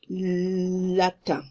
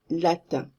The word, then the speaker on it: latin: Very often you are going to pronounce here tin, you are going to say Latin. It's Latin. And think about bench and bank. You say it's the same un. Latin. Think of bench, bank.